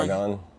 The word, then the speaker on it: Saigon: He said it was just like I can't pronounce that. Saigon. Saigon.